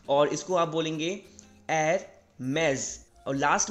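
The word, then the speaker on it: Hermès: तो आप इसको प्रोनाउंस करेंगे Hermes।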